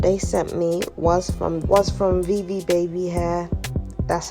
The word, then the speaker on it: Vivi Babi: This hair that they sent me was from Vivi Babi hair.